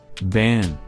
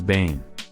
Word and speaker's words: banned: Banned. They have doubled the N again to avoid pronouncing it as bane.